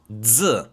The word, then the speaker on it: x: So keep in mind that the X is not pronounced as X in Albanian, but we pronounce it this way. Z, Z, Z.